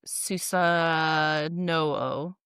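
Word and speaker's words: Susanoo: The most famous example is the relationship between Amatarasu, the sun goddess, and Susa No. What? Susa. No. Oh, cuz it's n o. It's not new. It's no o susa.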